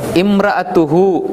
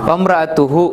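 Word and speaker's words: امرأته: மேலும் மேலும் இது வந்து மேலும் இம்ராத்துஹு சேர்ந்து வரும்பொழுது இந்த வா அந்த அலிஃபை உச்சரிக்க மாட்டோம். இம்ராத்துஹு ஹூ என்பது இம்ரான்ட பெண்,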